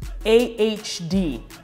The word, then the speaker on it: AHD: that quality oil fifteen books that's not bad a HD and uh-huh that's how it's pronounced next one the next one is also